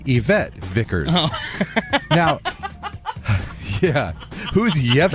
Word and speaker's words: Yvette: uh it was surreal we heard the name yevit vickers yeah well tanner meant to say yvette vickers now yeah who's